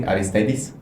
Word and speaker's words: Aristeidis: Okay, did I pronounce it correctly? Aristeidis? Yeah, you pronounce it just great, but for people that are not native Greek, they can call me Aris if they want, because it's much shorter and easier to pronounce it.